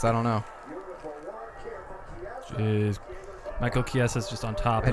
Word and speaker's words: Chiesa: Diego Sanchez, And which is how do you pronounce that? Michael Chiesa. Chiesa.